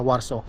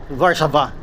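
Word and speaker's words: Warszawa: By the way, ang tamang pronunciation ng Warso sa salita nila ay Varsava.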